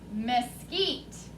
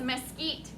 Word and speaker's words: mesquite: the word mesquite mesquite how many syllables does mesquite have michaela two two mesquite how many times does your chin hit your hand mesquite two m-e-s is the first syllable mess q-u-i-t-e heat is the second syllable miss eat is